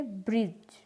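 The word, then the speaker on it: bridge: जब D spelling में G से पहले आई तब D जो है वो साइलेंट होता है, जैसे ब्रिज, फ्रिज, जज, एज, नॉलेज, बजट।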